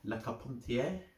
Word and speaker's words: Lecarpentier: And I'm going with my friend Ryan Lecarpentier. So that's just how I pronounce his name, although a lot of people say it differently, but I know the right way.